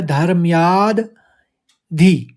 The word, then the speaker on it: धर्माद्धि: इसमें लिखा है धर्मयाद धी। पहले धर्मयाद द निकलेगा, फिर धी निकलेगा। धर्मयाद्धि, फिर युद्धराज युद्ध युद्ध, जैसे आप पढ़ते युद्धाच, युद्धाच निकालेंगे।